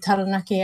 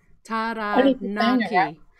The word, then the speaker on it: Taranaki: So ta is in like T-A-H. Ra, you got to roll your R. Taranaki.